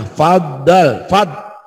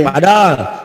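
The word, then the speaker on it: فَضَّلَ: Faddal. Fad itu nyamber dan double. Nyamber dibacanya fad, nyamber dan dibaca double, dibaca 2 kali. Jangan padol. Banyak kalamlah orang yang baca padol. Karena tasjid ini fadol.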